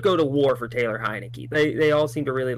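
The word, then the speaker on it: Heinicke: Yeah, I believe in Taylor Heineke because his last name sounds like you're calling my name. Oh, no, it sounds like saying my name. Oh, I thought I said. I thought it was like you're calling for a beer.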